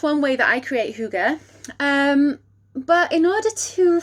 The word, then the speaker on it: hygge: y double g e it looks like higgy and uh that is in fact how i pronounced it for the first few months of hearing it and reading about it but it's pronounced hygge and this is a